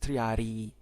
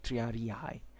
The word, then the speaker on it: triarii: encampments of the triadi please don't say three rei because the pronunciation is triadi it's two eyes you don't have to say triarii so the treyari were do